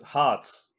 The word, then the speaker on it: Harz: and the word for resin in germany it's hearts h r r and h h a r c like either the americans say z and the english people say that